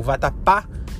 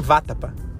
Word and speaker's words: vatapá: O vatapá tem um acento no a para falar que você fala vatapá e não váapa ou vatapa, entendeu? É vatapá. E aí a sílaba tônica, ela tem um acento